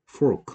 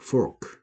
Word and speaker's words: fork: 그다음에 뭐 이게 한국 사람들이 F하고 P 발음을 잘 구분 안 하는데 이렇게 하면 전혀 다른 뜻이죠. 되죠? Fork 하면은 우리가 먹을 음식 먹을 때 쓰는 포크죠. 포크. Pork, fork, pork, fork. 다르다라는 거.